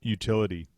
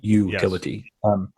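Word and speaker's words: Youtility: again going off Off Script but the word utility what what does that actually mean to you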